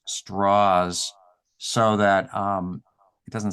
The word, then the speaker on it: Strauss: big deal about saying his name is actually pronounced straws so that um it